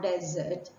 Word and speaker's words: desert: world say the Saharan Desert or the tar desert but when it is spelled with a double s and we're bringing